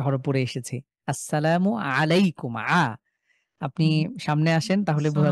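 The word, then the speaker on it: السلام عليكم: জাহিদ ভাই আমরা আসসালামু আলাইকুম যখন বলছি তার এর মধ্যে একটা আইন আছে। তো আইনটাকে আইনের মতনই উচ্চারণ করতে হবে এখন।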